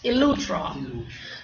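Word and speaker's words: Eleuthera: How you pronounce that? Elutra.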